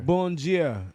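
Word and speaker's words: bom dia: day boom is good bomb gia is like dia like in spanish good dia means de gea but they just it's spelled the same way too but they just instead of saying dia they say gia so they got a slur bongia a bon neuch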